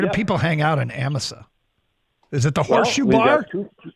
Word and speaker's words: Amasa: north from us it's Amisa Michigan how do you spell that a msaa amasa Amisa just like it sounds is it might be